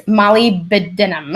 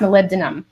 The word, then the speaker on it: molybdenum: mo ly be de in um and it's molybdenum it kind of looks like it says live it's pronounced molybdenum and it really helps clear sulfur pathways so